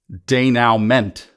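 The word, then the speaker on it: denouement: comes after that event is the denuman sometimes more elegantly pronounced as day now meant and this is a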